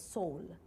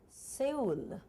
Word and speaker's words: Seoul: it was about Korea I think the place was Seoul and I read it I said soon it was on air